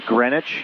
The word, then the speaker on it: Greenwich: Spelled the same as Greenwich, Connecticut, but it was pronounced Greenwich.